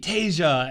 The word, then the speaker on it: Tasia: Oh, and my name is pronounced like the continent Asia with a T, Tasia.